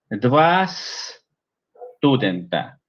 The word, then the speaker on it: dva studenta: Entonces, dva studenta. Dva studenta. Aprovechen eso porque facilita la pronunciación. Dva studenta. Deva studenta.